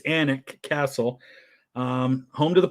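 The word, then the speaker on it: Alnwick: anet Castle recently and that is how it's pronounced it looks like alwick but it's anic Castle um home to the Percy my ancestors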